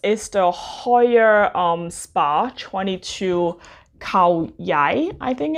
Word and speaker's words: Khao Yai: So this is the Hoya Spa 22 Khao Yai, I think it's pronounced. Hoya Spa 22 Khao Yai.